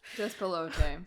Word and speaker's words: Despelote: Lotte, isn't it? Despelote, you're absolutely right. No, it's with an E. Oh, no, it's not. It's misspelled in my notes. That's why I've been saying it wrong.